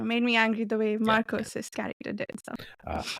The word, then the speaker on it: Marcos: Yeah, Marcus. Oh, yeah. Yeah. I kept waiting. Sorry. Go ahead, Chris. I was going to say his name's Marcos. That's his name. Marcos.